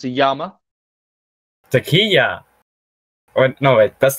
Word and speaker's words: llama: And indeed, in basic Spanish, double L is a Y sound. For instance, it's in Spanish, it's not pronounced llama, it's pronounced llama.